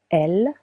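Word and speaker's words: elles: Elle with an S that is silent means they, feminine version.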